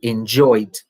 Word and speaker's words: enjoyed: Yeah, enjoy, enjoyed are two good examples, again, of the difference between when it is the infinitive, enjoy, and enjoyed, with a small T sound at the end.